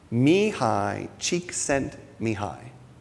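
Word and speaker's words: Csíkszentmihályi: a bit for me to learn how to pronounce his name me high cheek sent me high I said it right have you ever heard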